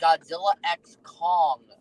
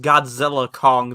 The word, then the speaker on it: Godzilla x Kong: might my Walmart carried both that and the Godzilla X Kong uh glowin thee dark you mean versus Kong